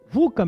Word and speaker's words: VUCA: fala-se muito do mundo vuca vuca mesmo é dessa forma que se pronuncia que na verdade é